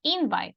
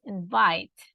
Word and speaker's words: invite: the last one H it's not invite it's invite so the stress is on the second syllable perfect and second mhm